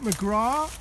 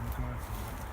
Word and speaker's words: McGrath: Is it McGrath or McGrath or It's McGrath. McGrath? It's only McGrath in Ireland where Yeah. they don't pronounce the TH and a bunch of other letters.